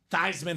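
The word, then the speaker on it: Theismann: the thesans and he did change the pronunciation of thyman just so we can get the Heisman trophy thyman for the Heisman and plunet said oh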